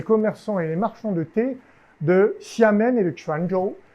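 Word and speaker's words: 茶: Parce qu'il ne prononce pas cha, comme en mandarin ou en cantonais, ou même dans d'autres langues chinoises, il le prononce T.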